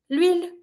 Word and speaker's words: huile: The oil, l'huile. Here, why don't we have le or la? It's because it starts with the H that is mute, so we don't pronounce it.